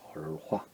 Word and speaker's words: 儿化: 오늘은 아화, 중국어로 얼화라 그러죠. 얼화. 발음 어떻게 됩니까? 얼화라고 하죠. 얼화, 화, 얼화라고 합니다.